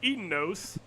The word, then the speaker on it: Edeinos: my disclaimer as the the way that I pronounce The Reptilian humanoid creatures can rub some people the wrong way so I might say eaten which is how I have heard it um ever since I started playing as well as um